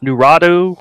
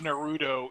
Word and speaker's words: Naruto: What is Nuratu, whatever that is. It's Naruto, and you know it's Naruto.